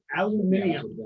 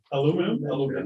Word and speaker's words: aluminium: a British guy was narrating it, and he said aluminium. Aluminium. Yeah, that's how they do it. And I know, but there's a syllable they're getting that we just don't have. Aluminium. Aluminum.